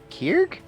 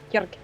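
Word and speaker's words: Kerig: You're Kierg? Kirk. Oh, Oh, can you Brew. spell that?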